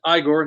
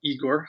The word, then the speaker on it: Igor: And I pronounce it Igor, not Igor.